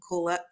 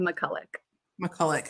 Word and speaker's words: Makulec: to have us uh joining us today Mula M I should have asked you how to pronounced your last name would you please introduce yourself hi I'm McCulla mullik thank you sorry about that class of 08